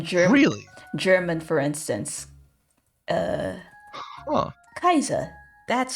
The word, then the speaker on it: Caesar: really German for instance Kaiser that how it's spelled it came from how you pronounce Caesar in Latin which is Kaiser waiter I think